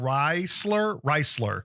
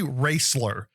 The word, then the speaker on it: Wraistler: We're just going to call it Reisler, because if you pronounce it the way it's written, it looks like it's spelled. Yeah. WRAISTLER. It should be Raisler.